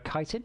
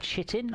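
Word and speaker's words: chitin: that's the bit where kiten that's how it's pronounce it's not shittin I found that out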